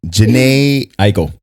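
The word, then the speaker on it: Jhené Aiko: Janae Aiko.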